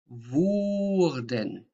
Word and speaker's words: wurden: Can you say wurden? Wurden. Wurden. And can you say würden? Würden. So ü.